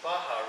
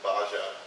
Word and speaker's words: Baja: How often do you have people pronounce it Baja? Pretty often. Oh. When I joined the team, I thought it was Baja too. Is it and not? That was corrected. It's Baha.